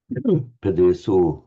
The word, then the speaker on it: padeso: So having converted into the Yorkshire O, or however they pronounce it in Yorkshire, then we want the more Ganges Valley O sound. Padeso, Padeso.